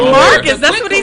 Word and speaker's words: Marques: Marques don't know what he is. Marques? No. Marques. Oh, Marques. Right, Marques.